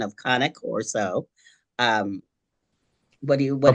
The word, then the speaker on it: Cane Corso: the proper pronunciation of kanak Coro um what do you what is it okay well I'll tell you what is not first ready you go it's not king corso it's not Kanye Corso it's not not